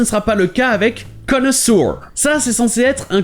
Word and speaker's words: connoisseur: Tout d'abord, vous avez le O qui se prononce O, et ensuite c'est censé être 2 fois le son E. Connoisseur. Oui, ici le OI se prononce juste E. Connoisseur. Mais comme on l'a vu, beaucoup d'anglophones vont prononcer le EU comme OU, ce qui donne connoisseur.